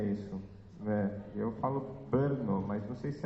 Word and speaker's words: Brno: Como é que você pronuncia isso? Eu falo Brno, mas não sei se é assim que fala.